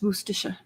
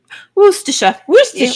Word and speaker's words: Worcestershire: is the head chef is English, and it's Worcestershire. Worcestershire.